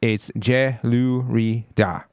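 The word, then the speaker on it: Jelurida: So for one, I mispronounced the name of the wider company, and it's Gelurida. Gelurida is the company basically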